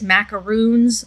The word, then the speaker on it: macaroon: Macarons are the sandwiches. macaroons are the um coconut.